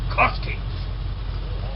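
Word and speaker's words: Ziolkowski: his name is kjac joski that's a good bullish name start with a z it's pronounced with a J no one can pronounce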